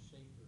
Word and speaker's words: Schaefer: Also, my notes pronounce Schaefer, not Shaffer.